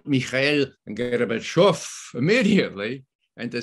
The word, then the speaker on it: Gorbachev: Vice President, say garbage. I said, garbage. Now say off with accent, off.